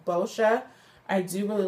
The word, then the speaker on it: Boscia: It's pronounced Boscia.